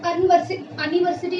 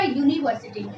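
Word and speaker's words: university: अब मैंने अनिवर्सिटी नहीं, मैंने क्या बोला? यूनिवर्सिटी। तो मैंने यू लेटर को यू से ही प्रोनाउंस किया।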